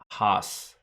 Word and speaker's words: Haas: It's pronounced Haas. Ha. It's pronounced ha-has.